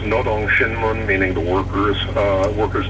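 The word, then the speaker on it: Rodong Sinmun: to explain right here n's and rs are transliterated in a funny way from Korean language uh it's pronounced Nong shinmun meaning the workers uh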